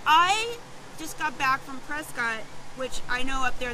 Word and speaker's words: Prescott: by 10 so i just got back from prescott which I know up there they couldn't they pronounce it press can I was reminded of that but i always